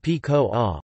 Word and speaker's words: pakora: Pakora, pronounced P-ko-a, also called pakoda, pakodi, fakora, bhajiya, bhaji or panako, is a fried snack fritter.